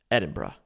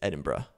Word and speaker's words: Edinburgh: said hey FYI Jared you're not pronouncing Edinburg I think is what I was saying correctly it is Edinburgh and I was like